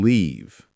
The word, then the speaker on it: leave: how do you differentiate live and leave? Live has a short I sound. Leave has a long E sound.